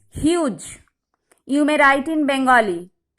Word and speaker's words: Hughes: Be careful, the pronunciation of Hughes, it is huge.